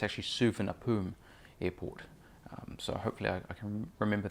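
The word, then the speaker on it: Suvarnabhumi: routes are from Tokyo Haneda Airport to Bangkok Suhana poom Beijing capital by the way I've been pronouncing Bangkok's airport names name wrong I was informed and so whenever fellows it's actually super nappeun Airport so hopefully I remember that for the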